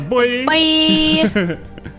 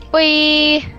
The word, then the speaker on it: buoy: The buoy. Now you don't say it right. It's buoy. Bye. Buoy. It sounds like you're saying bye.